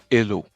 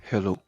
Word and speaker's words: hello: particulière sur la prononciation c'est pas a c'est pas I C'est pas hello mais hey hi hello parce que le H en anglais a une prononciation et le nôtre en français est mué ok poursuivant donc nous